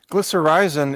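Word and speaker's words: glycyrrhizin: inhibitor glycerism how do you say that Mike glycerizin it comes from licorice root that's exactly right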